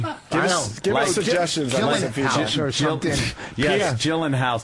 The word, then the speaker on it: Gyllenhaal: give us suggestions yes gyllen house gyen hall or or Gillan Hall I've heard uh two ways it could be pronounced so what is it uh I've heard Jake Gyllenhaal I think that's pretty accurate oh I was yeah